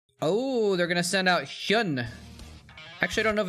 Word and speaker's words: Hyun: Let's see, his name is Go Hyun Hyun. So yeah, it's Hyun. That's how it's pronounced.